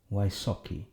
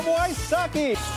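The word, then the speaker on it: Wysocki: Vysoc'ki is how Americans pronounce it. He'll charm the mom out of you. It's Jacob Wysoc'ki.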